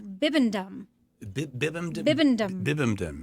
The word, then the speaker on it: Bibendum: yes he has an actual name and it's bibendum BB bbum bibendum how how do you spell it uh b i b e n d